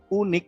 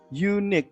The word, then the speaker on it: unique: Mungkin secara tertulis huruf vokal unik ini ya, vokal ya, itu biasa diawali dengan an. Biasanya an apple ya, an apple. Gitu ya. Kalau ini dibacanya adalah U, unique bukan unik ya.